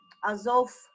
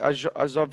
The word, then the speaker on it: Azov: Lori, by the way, we have summer camp now, and Max tell us many things and many stories from Azov Sea, by the way, from place which is Azov Sea, near Azov Sea.